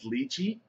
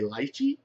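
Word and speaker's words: lychee: Um, the flavor profile is luchi. I know sometimes I say lychi, but I listen to the pronunciation. They stayed ley luchy dragon fruit mango.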